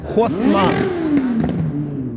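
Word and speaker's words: Haussmann: Осман, но дело в том, что Осман это по-русски, а по-французски он через H пишется. Хосман. Хосман.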